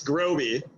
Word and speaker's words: Groby: And so it's, again, so it's Groby. Roby. Rhymes with Roby. Yeah, like Roby House.